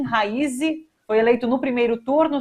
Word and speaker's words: Raisi: e também o Irã, a pronúncia do Ebrahim é um H com rim, o R do raiz é Raisi, o S é quase como se fosse dois S, Ebrahim Raisi.